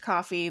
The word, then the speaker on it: Ko-fi: subscription um powered by coffee or pronounced coffee but spelled k-o-f-i and as an independent